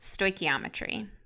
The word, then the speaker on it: stoichiometry: First of all, this funny sounding word right here is pronounced stoichiometry.